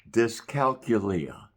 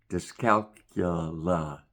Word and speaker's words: dyscalculia: It sounds like disco and calculus. So two things that didn't make it. Discalcula is a specific number disorder.